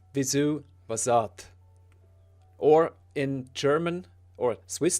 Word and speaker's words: Vyzzuvazzadth: What's interesting is I usually pronounce it Vyzzuvazzadth, a more American A, but that's only because it kind of feels more natural to say in my pseudo-American accent. But it's actually Vyzzuvazzadth.